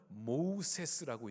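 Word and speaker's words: Moses: 아닙니다 이게 애굽식 이름입니다 그래서 발음은 모우세스라고 이제 부르는게 맞죠이 뭐라는 뜻은 물이란 뜻이고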